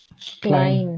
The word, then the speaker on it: klein: So how is the combination of EI pronounced? EI? I. I. I. Genau.